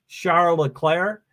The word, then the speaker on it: Charles Leclerc: to say his name I'm pretty adamant about being charola Claire but I mostly get